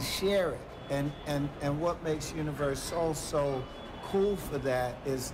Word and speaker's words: UniverSoul: So, as long as you've been in UniverSoul Circus, UniverSoul, you said it right the first time.